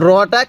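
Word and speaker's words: راء: ভাবে শিখবো এরপরে এই হরফটির নাম হলো দেখুন রটা কিভাবে লেখা হয়েছে যদি আপনি এই নকশা গুলো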